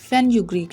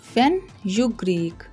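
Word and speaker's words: fenugreek: ड्राई फेनुग्रीक leaves, dry फेनुग्रीक, फेनुग्रीक। इसे हमने separate बोलना है, फिनोग्रीक नहीं बोलना।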